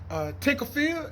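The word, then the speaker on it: Tinker Field: the once upon a time used to be Tinkerfield, as I'm saying it right?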